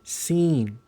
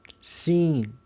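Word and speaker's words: سين: Seen. Seen. Seen. Almost like in the English way where you seen something.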